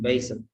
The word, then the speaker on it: Basil: Basil, it's pronounced Basil.